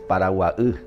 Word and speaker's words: Paraguay: El vocablo paraguay es una palabra del idioma guaraní y en realidad la pronunciación es paraguaú, porque la palabra ú significa agua, la palabra guá es lugar.